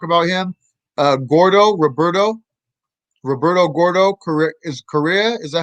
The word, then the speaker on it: Correa: If you could talk about him, Gordo Roberto Gordo Correa. Is that how you pronounce his last name? yeah. Roberto Gordo, Correa.